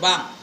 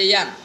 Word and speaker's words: bang: Kemudian daripada bang. Betul kan ejaan tu? Tulis rumi atas tu, B-A-N-G, bang. Jangan baca yang.